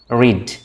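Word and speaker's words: read: রিড, রেড। রিডটাকে যখন আমরা পাস্টে উচ্চারণ করব তখন আমরা রেড বলবো। তাহলে রিড, রেড।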